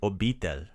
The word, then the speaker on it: obitelj: The word for family is obitelj.